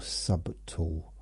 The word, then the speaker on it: subtle: But it's very subtle or sub tool. Uh I think the B is silent.